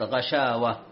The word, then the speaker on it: غشاوة: على سبيل المثال، غشاوة في الآية السابعة من سورة البقرة الجزء الأول، غشاوة وليست غشاوة، غشاوة النطق الصحيح.